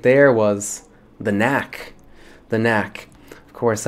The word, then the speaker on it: The Knack: there was The Knack The Knack of course like I said spelling doesn't count so if you dropped the silent k no worries The Knack